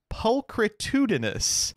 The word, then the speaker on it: pulchritudinous: Am I the asshole for calling a woman pulchritudinous? Wow. Oh You- my God. I wanted to check to make sure that you pronounced it right, and you did.